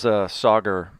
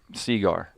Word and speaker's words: Sagar: He calls Sagar Seagar.